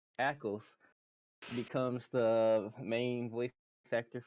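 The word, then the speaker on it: Ackles: Jared padaki sorry wrong wrong person uh Jensen ankles well that's not how you say his name akles becomes the main voice actor for Batman Deadshot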